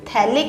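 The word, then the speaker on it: phthalic: तो इसको बोलते हैं थैलिक acid, PHA थैलिक, P silent थैलिक acid.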